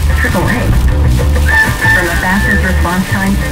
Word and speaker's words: AAA: There's one name you can count on, and it's actually pronounced AAA.